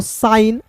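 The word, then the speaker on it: sign: यहां पे जी साइलेंट होगा। एस आई जी एन तो इसे पढ़ेंगे दोस्तों साइन एस आई जी एन एस आई जी एन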